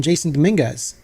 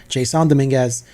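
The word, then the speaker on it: Jasson Domínguez: need to see from Jason Dominguez Jon Dominguez sorry that's how he pronounces it that's I'm just going to respect this guy that's how I pronounce it Json Domingas uh anything else you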